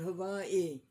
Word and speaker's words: Hawaii: A man was in Hawaii and he said to a native, "How do you pronounce it, Hawaii or Havi?" And the native said, "Havai?"